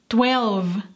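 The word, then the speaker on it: twelve: Recuerda el sonido de la V. Tenemos que hacer que vibre. V. 12.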